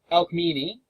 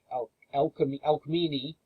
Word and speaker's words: Alcmene: When you come to C's, you're trying to pronounce a C, it's always pronounced like a hard K. There's no soft C's in ancient Greek. So anytime you see a C like Alcmene, and here is Chloris, it's never ch, it's never the soft C.